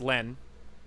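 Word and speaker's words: LLENN: inside the game her her username is Len and it's all caps and there's two L's in the front but I'm pretty sure it's just pronounced Len and there's nothing else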